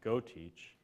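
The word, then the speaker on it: GeauxTeach: at LSU, it's called GoTeach. Spelled a particular Cajun way. Yeah, it's spelled Cajun, G-E-A-U-X, GoTeach.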